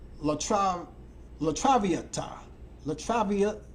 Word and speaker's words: La Traviata: in a performance of La travel let me pronounce this correctly it's called La tram la Traviata la travia la Traviata yeah I did that okay back in 1978